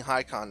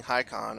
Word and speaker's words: Håkon: And what if King Haakon or Håkon, I think I actually heard that it's Håkon, I don't know. But I'm going to continue to pronounce it Haakon, even though I'm almost positive that's like horribly incorrect.